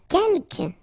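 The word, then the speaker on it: quelques: the second one uh Kel you don't pronounce the final s here Kel means few okay and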